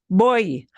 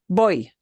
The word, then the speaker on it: voy: Voy, Boy.